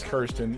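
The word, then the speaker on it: Kyrsten: next oh christian cinema is it kristen or kirsten kirsten kristen whatever it doesn't really matter but like i hear it pronounced both ways all the time so i'm just trying to make sure it is kirsten yeah oh she got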